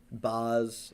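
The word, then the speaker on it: Bas: Yeah, it's like Nelly's gonna be there, 21 Savage, Big Sean, Black, Boz. How do you pronounce it? Boz, B-A-S. I've listened to his music. I've never B.A.S., pronounced it. Boz.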